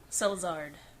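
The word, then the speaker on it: Szilard: Salazard is how it's pronounced. Listen, if you say it like this, Salazard. Say now say it faster.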